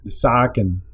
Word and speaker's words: zaken: Y sería este plural, zaken. Entonces es una A alargada. Entonces esta es de sac, tue saken. La doble consonante nos ayuda a mantener esta A corta.